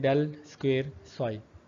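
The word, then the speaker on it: ∇²ψ: The first 3 term on the left hand side are represented by the this factor, ठीक है, delta square function pronounced as द del square Sai.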